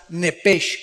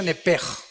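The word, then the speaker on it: נֶפֶשׁ: Apúntala como suena nepesh con sh se pronuncia nepej.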